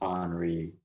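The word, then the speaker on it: Henri: damn that's that's gonna suss not gonna lie enrique it's spelled henry but it's pronounced honoree for some reason like jesus yeah yeah kind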